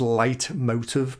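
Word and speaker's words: Leitmotiv: David Tennant's doctor so it's a German phrase um it's pronounced light motive but it's not it's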